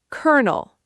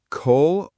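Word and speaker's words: colonel: Word five, kernel. Col-o-nel. Three syllables, col-o-nel. Kernel, like the kernel of popcorn. What? Col-o-nel and kernel sound the same? Identical pronunciation, completely different spelling, completely different meaning.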